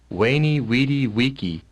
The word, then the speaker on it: veni vidi vici: what it looks like now they have two vocalizations here right two ways to pronounce it so I'm going to go with both and let you hear both of them waney witty wiki SI weyn e witty